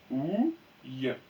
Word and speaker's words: ouille: Ouille. Ouille. D'accord? Donc, retenez bien que quand vous voyez une syllabe avec IL et que devant il y